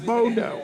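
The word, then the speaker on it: Bodø: do you say the name of the town bodeaux here we are at the most powerful mouse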